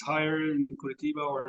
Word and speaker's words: Curitiba: But if we were to compare Blumenau to, for instance, the Curitiba, sorry for the way I pronounce that, but Curitiba, bam, we compare.